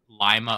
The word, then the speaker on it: Lima: like directionally aiming toward Lima Ohio which that's apparently how you pronounce it okay um it's it's not pronounced like the one in Peru okay but um yeah